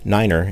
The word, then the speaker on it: nine: Niner frequency after taking off from Runway 8 notice that three is pronounced tree and nine is pronounced Niner in aviation the pilot of American